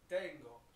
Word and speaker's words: tengo: Whenever we use yo, the conjugation is tengo. Really, really important that we focus on the pronunciation here, because that is not the dance, tango.